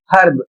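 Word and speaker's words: herb: पहला जो अपवाद के रूप में शब्द है एच ई आर वी इसे पढ़ा जाता है हर्ब। यहां पर एच का उच्चारण किया जा रहा है और इसकी हिंदी होती है हर की जड़ी बूटी।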